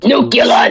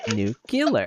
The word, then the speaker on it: nuclear: Sometimes I will say nuclear and nucular that bud. I also grew up with the Simpsons and it's I have the clip of Homer in my head. He's like nucillar. It's pronounced new killer.